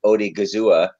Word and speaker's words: Odighizuwa: We talked about Davis, Ivory, and Odighizuwa. Wow, you got the pronunciation.